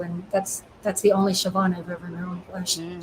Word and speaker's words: Siobhan: on the mailbox it looked like it said seal Bond like s-i-o-b-h-a-n I think and she said no it's pronounced Siobhan oh I was also a Gaelic name yeah